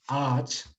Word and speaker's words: ağaç: Por decirlo así, si tenemos la palabra, entonces, ağaç, ¿cierto? Ağaç, que significa árbol en español, es como si tuviéramos aquí tres A's. Bueno, ağaç, ese es ağaç, sería la pronunciación.